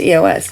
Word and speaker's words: EOS: And if we're talking about that, EOS, that's how you say it. It's just EOS.